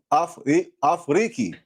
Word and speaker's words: Afriki: Afriki.